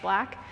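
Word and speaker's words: 6LACK: black is so underrated it's six and then like l-a-c-k but it's pronounced black he his lyrics the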